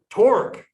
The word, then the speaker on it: torque: only force but also rhymes with fork torque and so we're going